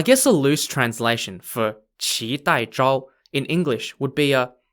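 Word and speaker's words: qidaizhao: tang dynasty onwards the emperor employed people called chi tai chao spelled q-i d-a-i-z-h-a-o although you'd probably never be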